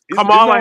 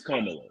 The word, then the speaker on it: Kamala: Camala Harris. No, Kamala Harris. Do you realize that Camala Harris is a better pronunciation than Joe Biden had of her name? Her name is Kamala.